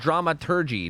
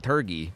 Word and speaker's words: dramaturgy: test it you know it's pronounced dramaturgy not turkey no you're a turkey